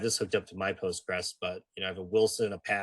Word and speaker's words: Postgres: Kobe, it's Postgre. Our French friends tell us. I always say it wrong. Yeah, Postgre. Sorry. You never want to hear you say Post. Apparently, they said in a very French voice. Only dumb Americans you call it Postgres.